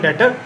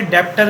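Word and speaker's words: debtor: हम डेटर कहते हैं। कुछ बच्चे उसे डेप्टर भी कहते हैं, इसमें बी लेकिन साइलेंट होता है, जब इसे प्रोनाउंस करोगे तो क्या कहोगे? डेटर।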